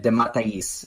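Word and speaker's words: DeMatteis: others it is that how you see Jim de Mateus I looked it up I looked up a video on YouTube how do you pronounce this name that someone said de Matteis that's like the third different way I've heard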